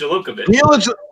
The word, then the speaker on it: Jovovich: It's Jovovich.